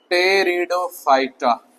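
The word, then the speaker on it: Pteridophyta: तीसरा टेरिडोफाइटा यहां पर पी क्या है? साइलेंट है।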